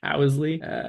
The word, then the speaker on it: Ousley: I definitely Oosley. mispronounced that. Ousley. Owsley.